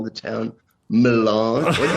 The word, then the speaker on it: Milan: Is just call the town Milan? What do you call it? Milan, bro. Hey, Down here it's called Milan. Man, I feel wrong emphasis on the wrong syllable.